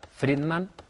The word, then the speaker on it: Friedman: Si les parece, sin perder más tiempo, vamos a continuar charlando con Violeta Friedman. Pronuncia ahora bien el apellido.